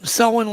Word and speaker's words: Selwyn: And you found a trackway, and I believe it was near Lake Selwyn. I think I'm pronouncing Yeah, it was right. Selwyn Lake.